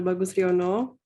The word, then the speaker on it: Bagus Riyono: Bagus Riyono, who is the president of the International Association of Muslim Psychologists.